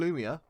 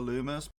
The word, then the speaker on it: Luma: Next up is Rosalina and Lumia. Yeah. So Rosalina and Luma are... Thank you for pronouncing it correctly.